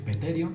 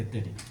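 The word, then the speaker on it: pterion: parte se denomina terion se escribe primero p y luego terion p terion sería como decir petero pero se dice eterio Este es un punto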